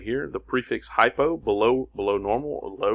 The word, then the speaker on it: hypo: right here the prefix hypo below below normal or low remember I told you hypo rhymes with low combining form Vall or